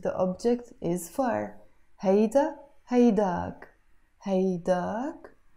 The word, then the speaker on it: هيداك: Hayda, haydak, haydak. But we can also pronounce it haydake. It's exactly the same meaning, haydak or haydake.